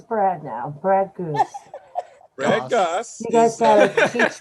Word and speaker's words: Gosse: Brad, how many people tell you Brad Goose instead of Brad Gosse? 40%. Is it Gosse or Gosse? Oh wait, okay, that's It's Gosse. It rhymes with sauce.